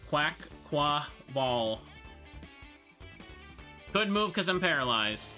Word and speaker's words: Quaquaval: Quaquaval, that's how you say it. Quaquaval.